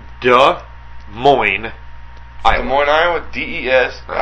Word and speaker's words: Moines: with that no but but duh sounds like wh there's no s in there yeah moin there's no Queen what's